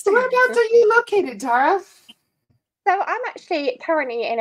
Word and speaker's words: Tara: So do you pronounce it Tara or Tara? It's Tara. Tara, yeah.